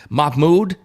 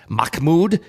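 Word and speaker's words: Mahmoud: it involves another character Mahmud I'm sorry it's pronounced mmud Khalil heard that name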